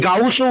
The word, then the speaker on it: Gauss: Next চলে যাচ্ছে curl Friedrich গস। এই গস যাকে অনেকে গাউসও উচ্চারণ করে, কারণ ইনি ফিজিক্সেও কাজ করেছে, আবার